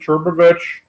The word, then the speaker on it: Trbovich: people rather than turbovich so my last name is as uh is it rhymes with Weird Al Yankovic and it's it's a